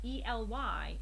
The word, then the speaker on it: Ely: guys always mention, but I remember that ELY is Ely because one of you very helpful people gave the tip that you remember eels. There's a lot of eels in Ely, so I will never forget that.